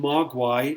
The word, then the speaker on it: Mogwai: out that the term Mogwai is Chinese um it is in two syllables as well Ma and then the second syllable guay and it means something